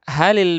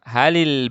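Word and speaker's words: هل: Hal, kalau kita berhenti bacanya hal. Hal al baitu qaribun minal masjid. Ini kalau kita berhenti. Tapi kalau kita sambung, bacanya kita sambung, maka kita bacanya halil baitu. Lamnya dikasrahkan.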